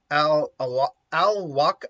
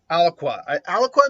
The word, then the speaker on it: Alaqua: No, it's A-L in the word aqua. So I think Alwaka.